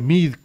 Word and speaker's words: Meade: José Antonio Meade Curibreña, que se pronuncia Mid Curibreña, pero se escribe Meade y por ahí luego,